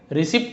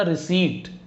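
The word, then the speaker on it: receipt: जैसे रिसिप्ट होता है, हम रिसिप्ट नहीं बोलते, सुनना रिसीट, रिसिप्ट नहीं होता रिसीट।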